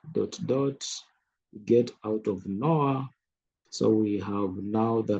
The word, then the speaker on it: Noir: It's pronounced as Noir.